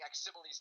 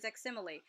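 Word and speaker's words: Aximili: that I've been pronouncing Aximile's name wrong for like 20 years. So I appreciate that. It took me. I used to say Aximil until I realized it was Aximile.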